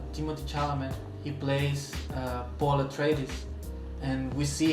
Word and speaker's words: Atreides: Arthritis. Atreides.